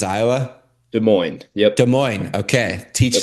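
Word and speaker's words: Des Moines: De Mo, you say it right? De Moines's Iowa. De Moines.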